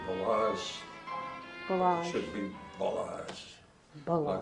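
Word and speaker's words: Balázs: It should be Balazs. Balazs. Like all Hungarian words, the accent is on the first syllable.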